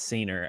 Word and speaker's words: scener: on this site it's senior i i know the thing is getting cut off but it's spelled like s-c-e-n-e-r it's like scene with r at the end anyway uh it it